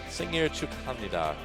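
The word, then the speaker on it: 생일 축하합니다: Singir Chukhamnida.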